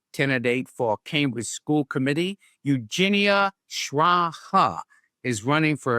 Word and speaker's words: Eugenia: Hi yes I'm Eugenia Shraa. So you can think that Eugenia is just pronounced like Eugene and Shraaha like I said as my slogan last year.